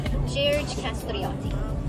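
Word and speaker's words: Gjergj Kastrioti: Now I'll say it like in Albanian. His whole name is actually Jerash Castrioti. Sounds a little bit George.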